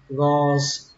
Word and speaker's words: gauze: Miếng gạc thì các bạn đọc là gauze, pass, gauze, âm giờ các bạn nhé, gauze, pass, mà các bạn có thể đọc âm sờ cũng được, đọc là gauze, pass, gauze, pass, gauze, pass, gauze, pass.